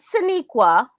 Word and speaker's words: Sonequa: And that's why I'm going to just go ahead and tell you, pronounce it Sonequa, and just go ahead and learn how to pronounce it.